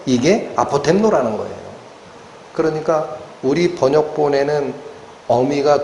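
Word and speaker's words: ἀποτέμνω: 근데 왜 제가이 되지도 않는 헬라를 자꾸 끌어들이냐면이 아포토미아라는 단어 하나님의 주놈하심이라는이 단어가 어디서 나온 단어냐면 아포템노라는 동사에서 나옵니다.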